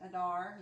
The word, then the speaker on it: Adar: Adar, yeah.